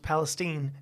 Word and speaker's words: Palestine: back through Palestine and yes it's pronounced Palestine Texas on my way back from